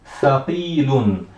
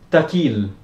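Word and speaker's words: ثقيل: Thaqilun. Lembrando que essa letra é a letra Tha. Não será pronunciada como sendo Ta.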